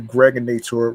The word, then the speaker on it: Gregonator: I'm your man, aka the Gregonator. Rhymes with now or later, just like the candy.